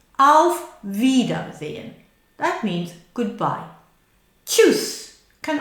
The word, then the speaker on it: Auf Wiedersehen: Auf Wiedersehen. Now, people coming from Spain will find that difficult, the two lips coming together. Auf wieder, wieder, wieder, wieder. Look at my lips are coming together. Auf Wiedersehen.